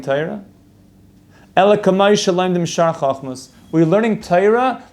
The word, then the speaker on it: Torah: we were learning Taira if anybody's done what toyura is it's Torah just an Ashkenazi way to pronounce it and even though we